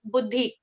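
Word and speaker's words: बुद्धि: So buddhi, it is important to emphasize on the sound of the letter the, because the and the are two different things. It's yeah. So it is actually if you look at it from the point of view of individual letters in Sanskrit, it is a combination of both, but the dominant sound is the. So like as in Buddha, the enlightened one, the ninth in the line of the Dashavataras.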